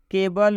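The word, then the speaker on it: cable: मैं यूँ कहूँ तो सिटीजन में सी का उच्चारण स हुआ है, केबल में सी का उच्चारण क हुआ है, स्पेशल में सी का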